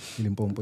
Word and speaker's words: Limpopo: Yeah, Limpopo, yeah.